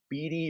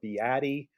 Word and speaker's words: Beatty: It's a two-syllable name.